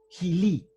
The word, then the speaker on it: gilí: Sí, también tiene que ver con gilipollas, porque gil viene de una forma del caló gitano que originariamente era gilí, con acento en la última i, gilí. Entonces, gilí, por acortamiento, ya